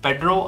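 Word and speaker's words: Pedro: ही इ famous S पेड्रो और पेरो both are the same because are is silent in porch गीज सो पेरो और पेड्रो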